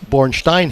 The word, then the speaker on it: Bornstein: well they call me born Stein here poor design is Java seen as German backgrounds yeah but Bornstein is how it's pronounced gotcha all right Howard